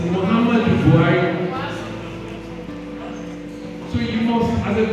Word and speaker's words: Muhammadu Buhari: Because you first said Muhammad Buhari, he said it's Muhammadu Buhari. So it is M-U, H-A, and then the end is U. But a lot of people say Muhammad Buhari, it's Muhammadu Buhari.